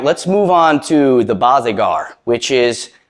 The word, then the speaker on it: Barzegar: that teach you the bazigar it's not the boss agar trust me like it's